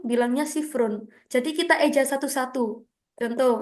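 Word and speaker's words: صفر: kita dahulukan kan tulisannya gini teman-teman ya kita bacanya kayak nomor pada umumnya ya dimulai dari 0 0 bilangnya sifrun jadi kita Eja satu-satu contoh ini nomor yang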